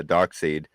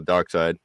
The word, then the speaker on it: Darkseid: that the display and I said uh doc seed and somebody's like Darkseid what the heck died yeah so dark side well I mean if you look at it like it's spelled hey morning Gary yeah